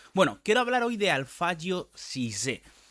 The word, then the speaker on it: Alphadjo: Digo Alfio porque es como se dice, el mismo lo comentó mientras estaba en Catanaro. Se escribe una especie de alfajo, sí sé, pero es alfayo como hay que decirlo.